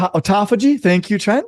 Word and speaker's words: autophagy: it's called I don't even know how to pronounce it but it's autophagy autophagy autophagy thank you Tren y I knew I was